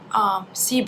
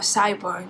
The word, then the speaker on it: SIBO: Today I would like to discuss with you the SIBO or SIBO, depending where you live, that's how you pronounce, small intestinal bacterial overgrowth.